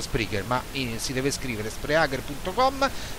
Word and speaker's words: Spreaker: piattaforma è sempre Spreaker si scrive Spreaker con la k si pronuncia Spreaker ma si deve scrivere